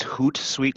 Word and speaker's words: Hootsuite: you spell that chris it's hoot sweet so hoot like an owl h-o-o-t and then sweet like an office suite okay oh sweet like